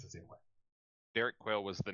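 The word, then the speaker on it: Derek Quayl: Quail like the bird. Uh qu u a y l So kind of but not the same spell but pronounced the same way. Derek Quail was the name of this person.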